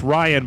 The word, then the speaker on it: Rian: it's Ryan, but it's spelled Rian, or at least I've always heard it said Ryan.